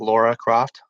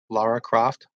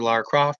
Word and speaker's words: Lara Croft: just mispronounced Lara Croft it's not Laura Croft Lara Croft from what I understand I don't know but basically I know